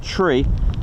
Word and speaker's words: tree: have heard tree so the numbers are pronounced slightly differently for numbers three which is pronounced tree so you don't get confused with three or three or any other one so that's there's also